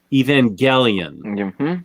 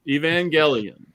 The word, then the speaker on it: Evangelion: to pronounce this because there's about 14 different pronunciations oh look at that uh neon genesis evangelion evangelion that's how i say it and so my